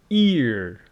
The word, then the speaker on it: ear: Head, ear. This one is ear. And this one is air, like her, So ear, air.